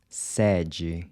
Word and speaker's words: sede: Then the open E is pronounced similar to the in air. We see this in the word sede, headquarters.